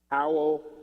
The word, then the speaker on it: Howell: make a noise that sounded like a wolf. I don't want to say the word because I don't want to use the word even though it's spelled differently. But, you know, what the wolf would do at the moon.